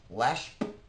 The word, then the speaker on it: Lesh: It's not even a word. It's Lesh. That's it. Lesh. That's how you say it.